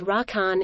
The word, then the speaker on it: 羅漢: In Japanese the pronunciation of the same Chinese characters is rakan ya.